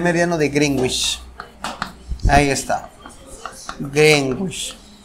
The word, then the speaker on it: Greenwich: Ah, muy bien, ya tú lo pronuncias bien entonces, del meridiano de Greenwich, ahí está, Greenwich, Greenwich.